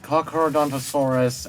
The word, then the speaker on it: Carnotaurus: It's pronounced Carnotaurus, at least you spelt it correctly.